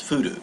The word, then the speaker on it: 降る: If you hear it pronounced as furu, to precipitate, to fall, as in rainfall.